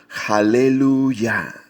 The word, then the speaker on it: aleluya: aleluya alabar a dios en el idioma original se escribe halle luz y también ya que es jehová juntos los dos vocablos suenan aleluya o sea que la